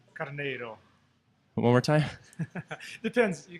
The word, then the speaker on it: Carneiro: You can say it like a regular gringo, like Carneiro. Carneiro. Yeah, that's the easier way.